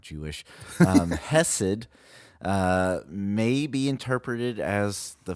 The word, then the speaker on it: hesed: The Hesed. Hesed.